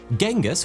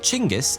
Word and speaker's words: Chinggis: Genghis was the original anglicized version of Temujin's assumed name, but Chinggis is actually closer to the Mongolian pronunciation, so many modern scholars prefer that version.